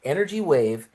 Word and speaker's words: NRG Wave: They they spell it NRG, but it's pronounced energy wave different.